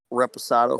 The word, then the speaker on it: Reposado: Reposado sorry to say again can you properly pronounce Reposado for me yeah the reposado uh it's so